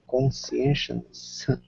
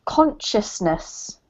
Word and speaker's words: consciousness: We will be able to upload our mind conscience by the end of that decade. So it's pronounced consciousness.